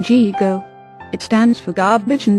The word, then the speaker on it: GIGO: In computer language there is a term called GIGO. That's pronounced G-go.